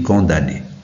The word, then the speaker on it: condamné: condamné à mort regardez condamné comment ça s'écrit condamné he mais ça se lit condamné on VO maintenant didascali